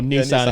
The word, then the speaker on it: Nissan: Like the actual Nissan Stadium or Nissan if you're Nissan. American. Yeah. Or how do you say it? Nissan. How do you say it? It's Nissan in the UK.